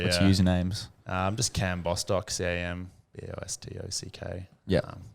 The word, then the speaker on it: Cam Bostock: Just Cam Bostock, CAMBOSTOCK. Yeah. Not Cambo.